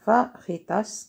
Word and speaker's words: fajitas: ها هي البنات اللي انتبهتوا شوفوها، سميتها فاخيتاس، كتكتب هي الجي كتقرب هاش المكسيك البنات كيهضروا بحالهم بحال الصبليون الجي كيقولها كينطقوها خاء بحرف الخاء.